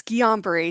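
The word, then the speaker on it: Guillain-Barré: It's Guillain-Barre Syndrome. It's a rare autoimmune disorder, and it's French, in case you're trying to pronounce it.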